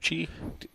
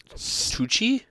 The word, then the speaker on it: Tucci: of them are, like, Tucci. Tucci? Tucci? Isn't that how you say it? I don't know. Is that what? Touche. Tucci? Yeah, sounds like it. Lucky. It's like Gucci, but with 2008.